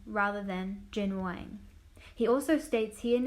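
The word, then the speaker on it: Jin Wang: student he is highly discriminated his teacher unknowingly pronouncing his name is Jin Jiang rather than jinhwan he also states he and his family moved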